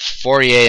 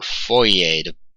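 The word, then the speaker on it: Fourier: idea of something called forier analysis or or foer depending on how how hard or soft you want to pronounce this R for analysis he's a French fellow so I suppose this R might be rather soft but but there's there's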